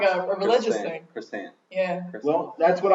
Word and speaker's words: croissant: I think it's crescent. Yeah, chocolate crescent. Yeah, it's pronounced crescent. Exactly. Chocolate I thought it was crescent. croissant. There's some sort of silent letter. Maybe the T at the end is silent. It's Maybe. croissant. It's crescent. Crescent. Crescent. Like that. Croissant. The French don't say T, Oh, so like it's a crescent.